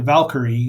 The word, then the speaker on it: Valkyrie: see you the the valkyrie and they pronounce it in a you know an English way Valkyrie or valkyri the ship has been